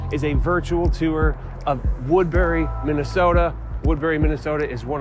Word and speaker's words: Woodbury: For one, you're gonna hear a lot of people call it Woodbury. I don't know, it's not spelled like blueberry or raspberry, it's Woodbury, B-U-R-Y.